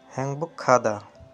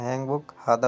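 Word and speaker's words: 행복하다: হ্যাংবুক খাদা মানে সুখী। হ্যাংবুক খাদা মানে সুখী। এখানে হ্যাংবুক হাদা উচ্চারণ হইতো, কিন্তু বাসিমের রুলসের কারণে খাদা উচ্চারণ হয়।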